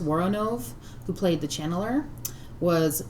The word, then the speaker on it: Woronov: All right, and nobody is probably going to think this is cool but me, but I think it's pronounced Woronov, who played the channeler, was Miss Evelyn Tuggar in Rock and Roll High School.